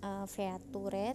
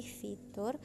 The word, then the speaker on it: fitur: dari tadi ibu Sebutkan fitur ya bacanya bukan feture tapi fitur nah artikel kreatif ini